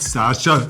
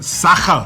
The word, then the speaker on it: Sacher: Not Sascha, Sacher.